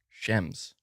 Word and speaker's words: Shems: So that's the thing, is it's lowercase sh space capital EMS. Shems? Shems? Is it just Shems? Man, I always get hung up on pronunciation, man. Shems.